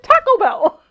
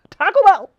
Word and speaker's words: Taco Bell: I do Taco Bell you say it like it's one word there's no pause in between taco and Bell there no there Taco Bell Taco Bell it's just syllables throw